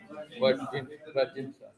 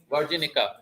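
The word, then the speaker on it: virginica: Iris versicolor, iris setosa, and iris virginsa. Did I pronounce correctly? वर्जिनिका है ना.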